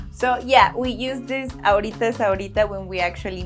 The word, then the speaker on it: ahorita: How would you pronounce ahorita if you wanted to be taken seriously? Tuk, tuk, tuk, tuk, tuk, tuk. If you said ahorita, you got it?